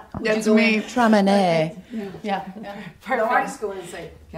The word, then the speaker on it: Traminette: It's a semi-sweet, and it is pronounced Traminette, not Traminette. A lot of people see that double T-E and think French.